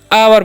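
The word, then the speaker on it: hour: य जो य पढ़ते हावर नहीं क्या पढ़ना है आवर पढ़ना है क्या पढ़ना है जी आवर ओय का च यहां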